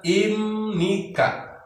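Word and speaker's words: 입니까: Nah, ibnika ini dibacanya imnika. Di situ ada pertemuan antara B dan N, maka B dibaca M.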